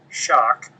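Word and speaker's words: Schoch: my website my personal website is www Robert shock and my last name is spelled SC H O C so it's r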